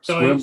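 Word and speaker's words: Sequim: We're staying in that little town, Squim. Oh yeah. Is that how it's pronounced? it's Spelled Squim. differently than it's pronounced. So Squim, Washington.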